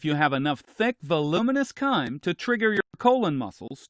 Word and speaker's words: chyme: This mixture is called chyme. It's an interesting way to spell it, but it's pronounced chyme.